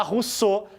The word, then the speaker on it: Rousseau: personagem fundamental Ja rousse se escreve Rosal porque é francês a gente lê Então se a gente quer falar pronuncia a gente fala Rousseau mas se escreve ral porque ele é francês para o Rousseau O